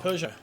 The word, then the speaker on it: Peugeot: Pick the wall or it's not Pronounce what, sorry? it's P-E-U-G. Oh, Peugeot.